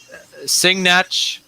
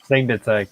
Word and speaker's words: Signatech: Singnach. Is that how you pronounce it? Sinach, whatever the heck you pronounce it. Signatech. Signatech, yeah.